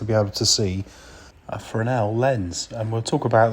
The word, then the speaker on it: Fresnel: bit of engineering a fresnel lens it's spelled a bit differently I think it's because of the it's French spelling so it's got an s in it but it is pronounced